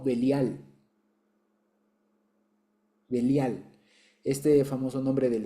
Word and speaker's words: Belial: Ahí literalmente dice Velí y al, que es lo que normalmente se traduce o se suele pronunciar más rápido como belial.